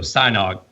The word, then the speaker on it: Sajnog: SCI as in like and then nog as an egg nog so sign OGG that's exactly what I tell people you love notice I you drink some eggnog and you'll never forget how to say my name or if you grew up with Teenage Mutant Ninja Turtles you know sigh like the weapon so one thing I